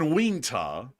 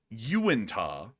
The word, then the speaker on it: Uintah: And Wingta, which is Wait, say that again. Uintah. Oh, Uintah. That's Wingta or something like that. Uinta. Uinta. Yeah, that's what it is.